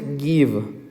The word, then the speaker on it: give: Se pronuncia give. La mayoría de las palabras que terminan con E son mudas. Por eso, este verbo la pronunciamos como give.